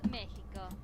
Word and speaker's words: México: México. The X can be pronounced as an H as well here.